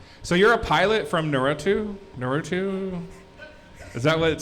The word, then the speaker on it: Naruto: So you're a pilot from Naruto? Naruto? Is that what? Say that again. What's your Naruto?